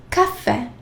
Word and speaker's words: caffè: Whenever you see the double letters, make sure that you pronounce both letters, such as lettere, caffè, double F, so I have to pronounce both.